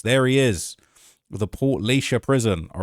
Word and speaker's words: Portlaoise: Daniel Kinahan's first full day inside the walls of uh Portlaoise Let me see if I can pronounce that correctly. It's Portlaoise Portlaoise Prison, okay, on Monday.